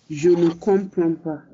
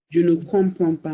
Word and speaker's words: je ne comprends pas: Je ne comprends pas. That is the pronunciation. Je ne comprends pas means I don't understand.